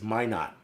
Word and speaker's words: minute: I said minute wherever it was, and they said it's minot.